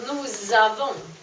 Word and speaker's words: nous avons: is pronounced as You don't pronounce the S But if you have a verb that begins with vowel You have a liaison between them, a Z.